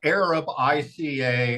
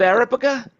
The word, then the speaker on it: Arabica: other one the araba it's called Arab IA and the other one is robustes yes really it's not called araba no it's Arab I it's just like Arabica that's what I call